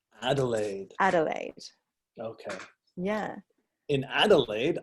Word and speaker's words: Adelaide: Is it Adelaide? Oh, close, Jared. We pronounce it Adelaide. Adelaide.